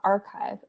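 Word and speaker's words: arXiv: okay so somebody sees saw archive okay so um it's spelled ar xiv and basically that's an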